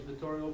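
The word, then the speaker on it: Vittorio: address I'm sorry I apologize my name is Victorio I'm a resent of you're going to need to spell it for me and say it's vtorial v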